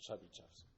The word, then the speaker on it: Chebyshev: alphabet that we use, but it's pronounced Chebyshev's.